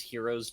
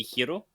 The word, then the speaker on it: Hiro: She's also the only one who pronounces Hero's name correctly outside of like his brother where it's supposed to be Hiro, which is the uh Japanese pronunciation where everybody else just says Hero instead of Hiro, which I know there